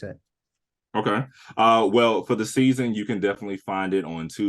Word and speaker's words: SZN: Well, for the season, you can definitely find it on Tubi. You can find it on Prime Video, Plex TV, Apple TV. Season is spelled SZN.